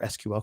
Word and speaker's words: SQL: You can basically just do a very simple, or it can be complex SQL query or SQL query. I was talking to my students today about how you pronounce it or reference that.